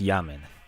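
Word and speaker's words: Jammen: Yammen is spelled with a J. It's actually a play on Benjamin. So it's Yammen.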